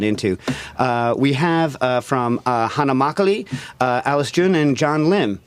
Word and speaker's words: makgeolli: We have from Hana Makgeolli, Alice Jun, and John Lim. Am I pronouncing everything correct?